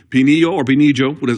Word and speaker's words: Pinillo: Now, the other opponent we have here, or excuse me, this opponent that he has here, Pinillo, would be the correct pronunciation.